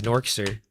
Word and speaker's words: Norkser: Hey, that's the official way you pronounce it now. It's Norkser.